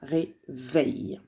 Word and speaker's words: réveil: Attention, ici, le E se prononce est. Je ne dis pas un réveil, mais un réveil.